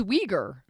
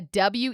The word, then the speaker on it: Uyghur: Oh, it is Uyghur. Wow. What do you know? Yeah, WEEGU Thank you, Jamie, for is the informing us.